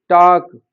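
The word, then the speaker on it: talk: से वर्ड जो हैं वाक टॉक उड शुड इनमें एल साइलेंट होता है लेकिन वो इनको भी उल्ड सुल्ड वाल्क टालक करके पढ़ते हैं और वह यह स्थिति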